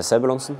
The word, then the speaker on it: Sebulonsen: Hvordan udtaler man dit efternavn 100%? Sebulonsen.